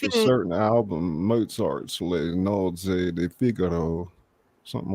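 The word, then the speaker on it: Le nozze di Figaro: Le Nozze de Figaro. Yeah, that's not wrong. It's just there's some trilling in the R's.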